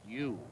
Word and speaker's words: Yu: action in this series you is why o o pronounced U just taking off the